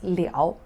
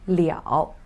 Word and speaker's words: 了: state ability pronounced as leo the change of the state pronounced as le so every time when you see two loves put together you have to pronounce them as the first one liao the second one right